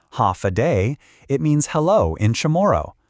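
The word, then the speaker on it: Håfa adai: Ha adai pronounced ha a day.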